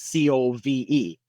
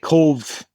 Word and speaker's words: Cobh: The BH is how we pronounce our V.